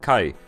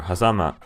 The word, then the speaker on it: 峡: Japanese does have a kanji character for gorge, this one, which is pronounced kai or hazama.